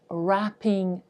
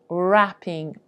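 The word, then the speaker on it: wrapping: gift certificate обгортковий папір wpping Paper wpping Paper w на початку перед приголосною не читається приголосна R w там абсолютно не прочитується wpping Paper gift basket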